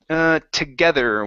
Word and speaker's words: together: here you need to pronounce a TH. You're pronouncing a D. You're saying together. Instead of der, it's there with your tongue between your teeth. Together. Together. Together. There you go. Together. Almost like the theta.